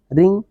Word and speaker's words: wring: जैसे ये WRING, रिंग माने झकझोरना होता है, रिंग रैंग रंग। और उसी तरह से WRITE होता है, राइट माने लिखना, यहाँ भी W साइलेंट होता है। तो प्रायः ऐसा देखा गया है कि अगर W के बाद R आता है तो वहाँ W साइलेंट रहता है।